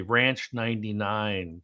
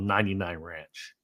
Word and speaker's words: 99 Ranch: Now, so little did I know this, Lei, but I was told we were saying it wrong the whole time. So, everybody I know in California calls it Ranch 99. It's actually called 99 Ranch.